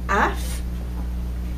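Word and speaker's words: אף: l'inverse j'aurai le mot AF sans le dagèche ici au centre sans le petit point au centre il se prononce prononcera AF et AF imaginez-vous donc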